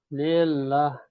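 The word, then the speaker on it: لله: Jadi kalau kita melihat tulisan Allah, di depannya tidak ada hamzah wasol, Bapak. Ya. Tidak ada hamzah wasol. Maka bacanya lillah. Tapi kalau ada hamzah wasol, maka bacanya Allah.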